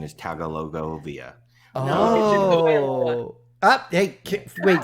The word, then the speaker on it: Tagovailoa: Well, I would have taken Burrow over to it, and the correct pronunciation is Tagovailoa. Oh. Hey, wait, say it again. Say it again, Katie. Toy Tagovailoa.